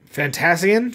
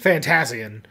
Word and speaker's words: Fantasian: this called fantasine yeah how do you say that fantasy fantasy fantasian fantasian i hate the english language fantasian